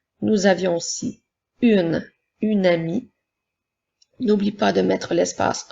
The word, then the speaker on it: amie: avions aussi une une amie n'oublie pas de mettre l'espace entre les deux mots par le mot une un et le mot ami a M I e la lettre E muette lorsque nous parlons lorsque